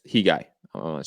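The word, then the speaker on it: Khegai: And if you're Kaigai, you have to impose your... By the way, Santiago is correcting us. The K is silent. It's Hi Guy. Or He Guy. Probably going to He Guy.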